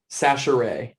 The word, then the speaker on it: Chachere: Chachere. That's how you say it. Chachere. Hey, so I got it. So it's Sash with a S.